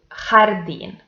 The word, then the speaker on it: jardín: Here is the example, jardín. So this word belongs to agudas because the last syllable is the stressed one.